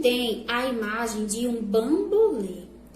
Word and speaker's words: bambolê: Bambolê, lê, já é um som fechado.